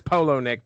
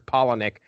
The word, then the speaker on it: Palahniuk: I don't think it's Polo-Nick because we got A's in there, so I'm sure it's Palahniuk.